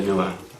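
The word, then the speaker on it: Nuer: We, and I'll go into this in more detail later, we the so-and-sos, we the Noah, we the Dinka, and then within that, we the people of so-and-so lineage within the Dinka and the Noah.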